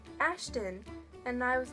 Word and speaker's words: Ashton: meet you and I'm like no not Ashley Ashton and I have to Ann iate the ton